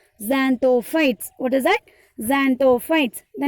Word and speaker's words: Xanthophytes: can start to pronounce ZXAN, Zan, THO, To, PHYTES, fights. Now it is easy to pronounce Xanthophytes.